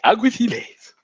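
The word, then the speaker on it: Alguaciles: nomad basic infantry, or Aguiciles, but he would say Aguithiles, like really cool, like Spanish accent.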